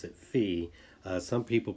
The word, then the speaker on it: phi: it seems like uh more often in science and math uh people pronounce it fee but uh in uh